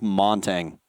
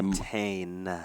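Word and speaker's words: Montagne: I know everyone hates it when I say Montaigne. Whatever. I don't care. The G is silent. I don't care. I'm not French.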